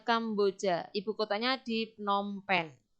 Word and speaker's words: Kampuchea: Tulisannya Kampuchea. Bacanya Kamboja.